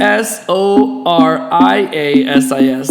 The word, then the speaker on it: psoriasis: and it's not correct p s o r i a s i s like Soria Sis Sis one day I'll